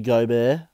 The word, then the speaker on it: Gobert: Jamal Murray should be higher overall than Rudy Gobert.